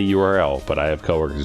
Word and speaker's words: URL: yeah because that's that is how you would pronounce it if you're like trying to just say it Earl I say URL but I have co-workers